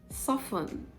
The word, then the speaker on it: soften: pronounced wait isn't chestnut soften soften soften i like to soften my cereal before taking it soften soften not soften just like often not often i often finish my food